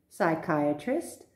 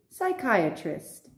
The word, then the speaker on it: psychiatrist: watched it so let's go psychology psychologist psychiatry psychiatrist psycho psychotic pneumonia i'll repeat one more time psychology psychologist psychiatry psychiatrist psycho psychotic pneumonia now you may wonder why